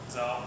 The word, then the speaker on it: Zahel: Is your Austrian pronunciation any better? How would you say that? Zahel.